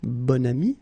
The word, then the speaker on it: bon ami: Okay, so you can see that here you've got this adjective, bon, okay, and then you pronounce it bon ami when you make this link.